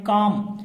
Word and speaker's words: calm: तो देखिए यहाँ शांत के लिए जो शब्द इस्तेमाल किया गया है CALM, काम। एल यहाँ साइलेंट है, काम का मतलब होता है शांत।